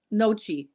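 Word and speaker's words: gnocchi: no I I can't noi I think it's noi I think the G is silent but yeah I'm not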